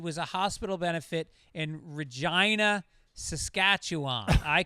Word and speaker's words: Regina: Also, Regina is pronounced exactly as your inner 12-year-old child hopes it would be pronounced Regina.